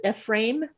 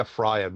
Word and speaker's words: Ephraim: Ephraim, you pronounce it Ephraim? I think I say Ephraim usually.